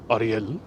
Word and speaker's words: Ariel: Your name so looks like the Ariel, the Little Mermaid. Yes, it's the same spelling. But Ariel in Spanish is pronounced Ariel.